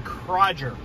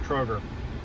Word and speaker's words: Kroger: example grocery stores they have what's called the crodger i think so i think that's how it's pronounced before you guys correct me i know it's pronounced kroger never been to a kroger before so we